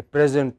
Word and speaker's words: present: the class gave a present to the teacher but when the same word is used as verb then it takes a stress on the final syllable we say the class